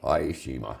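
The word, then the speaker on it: Ie Shima: Did I say it right? Aishima. Aishima. I got it.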